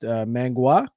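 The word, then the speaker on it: manhua: to left, whereas with I believe it's pronounced mangua.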